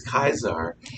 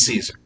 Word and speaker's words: Caesar: i'll say lation but i'm not going to say kaisar it's caesar okay um it's van